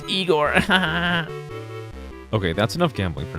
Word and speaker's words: Igor: of it is nice igore all right actually it's pronounced eigor okay that's enough gambling